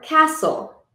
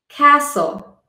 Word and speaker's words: castle: have a silent t t is silent when it follows an F or an s in a word some examples are castle castle I built a sand